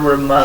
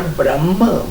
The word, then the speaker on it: ब्रह्म: तभी तो गुरु की महिमा है ना, ये गा रहे थे अभी, गुरु ब्रह्मा गुरु विष्णु गुरुदेव महेश्वरा। गुरु साक्षात पर ब्रह्म, ब्रह्मा नहीं, ये उच्चारण में ब्रह्मा बोलते हो, पर ब्रह्म, ये जो ब्रह्म है,